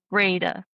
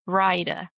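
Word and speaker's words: Brayda: And so that started something and then he said something about Jeppi being of the related to the Tora Brada plan or it's actually it's pronounced Brida.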